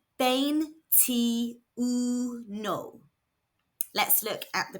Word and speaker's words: veintiuno: This is pronounced bane t. Let's look at the pronunciation. V is making a B sound. The I's make an E sound and the U makes an oo sound.